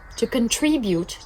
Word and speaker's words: contribute: I would love the opportunity contribute team. I would love to contribute team. Contribuer. L'accent se trouve sur la deuxième syllabe.